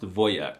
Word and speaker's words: wojak: I'm not even kidding, the wojak meme and the word are Polish, but it's actually pronounced wojak, which is the most alpha Slavic masculine thing I've heard.